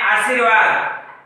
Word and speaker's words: आशीर्वाद: जैसे हम बोलते हैं आशीर्वाद, ये बिल्कुल शुद्ध रूप है इसका, क्योंकि जिस वर्ण के ऊपर रेफ लगा हुआ है उसका जो उच्चारण है इस वर्ण यानी व से पहले होना चाहिए और शब्द बोला जा